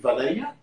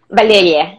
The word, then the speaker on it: Valeriya: So a wonderful job by is it Valeriya? Valeriya. Yeah. When I try to read it in an English manner, I mispronounce it.